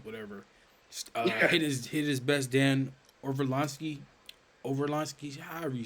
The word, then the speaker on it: Orlovsky: Dan Orlovsky, however you say his name. Dan Orlovsky.